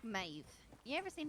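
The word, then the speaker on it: Meadhbh: together and said that that's that's how you pronounce five it's like maeve you ever seen how mavis actually spell it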